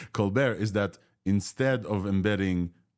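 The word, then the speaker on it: ColBERT: happens in there and the benefit here of Co bear finally I'm pronouncing this correctly Co bear is that instead of embedding one time it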